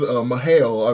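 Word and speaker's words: M'Hael: So he is Mahael, I believe it's pronounced, and he is officially one of the Chosen.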